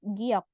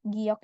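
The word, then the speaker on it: 기역: ya O huruf Giok ini kalau dia berada di awal misal seperti ini ya rabun lihat ada suku kata di sini ya di awal dia akan dibaca huruf g kayak huruf g kalau di akhir dia akan dibaca huruf k Sekarang kita akan fokus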